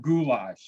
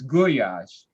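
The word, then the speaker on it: gulyás: like gash you know it's not goulash it's guash and that's how it's pronounced and that's how I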